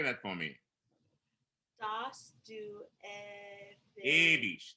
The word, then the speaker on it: ewig: Dass du ewig. That's ewig. Close A.